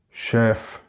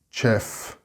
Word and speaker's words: chef: mispronounced word, and that is chef. It's not chef. It doesn't have a ch sound at the start, but a sh sound. Master chef, not master chef.